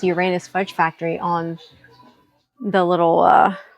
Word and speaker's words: Uranus: And it's pronounced Uranus, not Uranus. It's funny, my GPS called it Uranus.